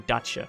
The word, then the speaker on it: Dacia: It's actually Dacia. I'm just gonna call it Dacia. Fuck the English, man. They pronounce words wrong.